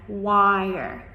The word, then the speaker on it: choir: So, normally, when you have this c h, it makes the ch sound, right? But, in this word, we just pronounced it as the k hard k in the beginning. And then, choir, choir. Almost like a q sound here, even though there's no q in the spelling.